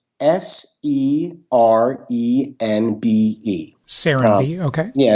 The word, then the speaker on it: Serenbe: Say the name again, or maybe spell it if you can. Sure. Serenbe, Serenbe.